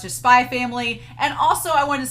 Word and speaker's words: Spy x Family: Pau, PAU333 on Patreon was like, it's just pronounced Spy Family, and I was like, okay.